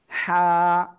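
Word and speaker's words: حاء: এই অক্ষরের নাম কি জানেন এই অক্ষরের নাম হলো হা গলাটা চেপে মুখ দিয়ে হালকা বাতাস বের করে এটা উচ্চারণ করতে হবে হা সবাই একসাথে জোরে জোরে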